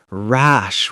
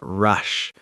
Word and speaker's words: rash: Rash with an a sound, not rush. The difference is small, but the meaning changes completely.